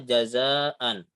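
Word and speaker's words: جَزَاءً: Ini tertulisnya jazaan. Jadi enggak jaza tapi jadi mat jazaa.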